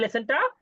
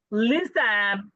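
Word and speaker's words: listen: লিসেন লিসেন লিসেন লিসেন না কিন্তু এখানে টি এর উচ্চারণটা হবে না লিসেন লিসেন লিসেন লিসেন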